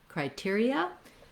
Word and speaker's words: criteria: And then we have, for the ON, a schwa, sounds like criterion. So these last syllables and the first syllable are going to be quite quick. When we make it plural, criteria, then we just basically drop the N sound, but you'll see criteria has the same stress pattern and the same first three syllables.